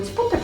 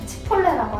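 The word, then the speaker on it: Chipotle: 그리고 치포틀이라고 우리 그 멕시칸 음식 하는데 이거 치포틀 발음 맞나요? 치폴레라고 하잖아요. 아 치폴레인가요? 아, 치폴레. 영어라서 또 치포틀 이렇게 한번 했네.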